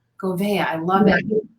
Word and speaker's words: Gouveia: It's pronounced Gouveia. Gouveia, I love it.